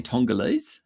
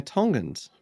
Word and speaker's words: Tongans: tongue person from Tonga are they tongal they're Tongans tongin of course of course of course